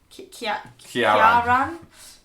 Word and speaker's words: Ciaran: Okay, so the next Irish name that we've come across is Kieran, but spelled like this. Kieran. Kieran.